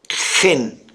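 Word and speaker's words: חן: Ken se escribe k h e n ken en hebreo se pronuncia gen para describir una de las formas en que Dios se describe a sí mismo.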